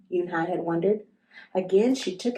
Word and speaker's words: Unhei: "It's spelled Unhei. It's pronounced Unhei."